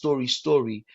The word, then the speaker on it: Storie: And the company is actually, it's not story. I call it specifically, I call it story. So it's Story. STORIE, story.